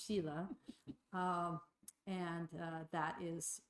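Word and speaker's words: śīla: And then the third is sheila sometimes pronounced sila but I think the think the proper Sanskrit pronunciation because I speak Sanskrit so fluently is sheila.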